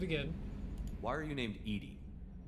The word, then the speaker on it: EDI: why are you named edie edie is the phonetic pronunciation of edi that is an acronym for enhanced defense intelligence yeah i think i'm